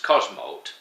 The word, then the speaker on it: Cosmote: course but they also have one called Cosmote pronounced Cosmote pronounced Cosmote but written Cosmote C SM o